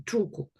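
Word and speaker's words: tulku: То есть, как бы, что этот Кен Ринпоче является тулкой, тулку. Вот. Потому что тулку, слово тулку, труку, на самом деле, труку, напрямую указывает на того, кто является нирманакай, проявлением просветленного существа на этой земле.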